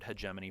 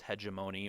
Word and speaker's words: hegemony: outside of your borders sometimes you'll hear the word hegemony pronounced hegemony or hegemony it can be pronounced a variety of ways and the other